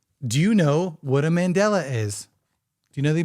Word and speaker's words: Mandela: time so Mandela effect I'm like yeah this is a mandala and it's Mandela right is it a bunch